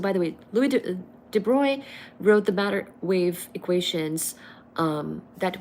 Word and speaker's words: Broglie: So this is spelled as Broglie, Broglie, but really it's Louis de Broglie.